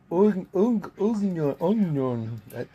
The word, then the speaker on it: oignon: Onion. It's spelled oignon, but pronounced onion.